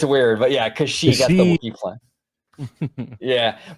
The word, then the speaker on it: Kashyyyk: Like that would be freaking amazing, Oh, by the way, that Wookiee planet, yeah, it's Kashyyyk. It's spelled kind of weird though. It's Kashyyyyk. Really? It's weird, but yeah, Kashyyyk, that's the Wookiee planet.